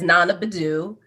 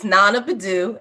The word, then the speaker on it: Naana Badu: And, here I am entering in as Naana Badu. The name on the resume is not Sally Smith. It is Naana Badu.